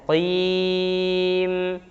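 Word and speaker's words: مستقيم: Ihdinas siratal mustaqim. Qim. Nah, qafnya juga jangan pengucapan kaf, tapi qaf ya. Qim.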